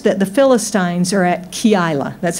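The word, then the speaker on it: Keilah: then he hears that the Philistines are at key isla that's how you pronounce it I didn't know till I looked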